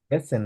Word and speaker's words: Wessen: Waschen, ভ্যাসেন বলো, ভ্যা, ডাব্লিউ ভ্যা, ভি এর মতো ভ্যাসেন।